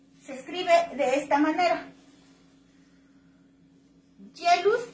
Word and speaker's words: Geluz: Jealous con G, G-E-L-U-Z, Gelatin.